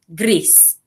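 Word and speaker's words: gris: gray greece and also i think of the country greece and that kind of helps me to make that association with the way to pronounce it greece you say greece and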